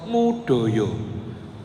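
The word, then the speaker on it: Moedojo: guru besar UGM namanya Profesor mudoyo tulisan namanya Moe do Jo ejaan lama Profesor mudoyo tulisannya Moe Dojo di bandara Don muuang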